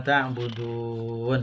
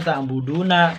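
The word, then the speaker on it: تعبدون: Ayat kedua ya, yang berbunyi la a'budu ma ta'budun ya, tulisan ta'buduna tapi dibaca ta'budun ya.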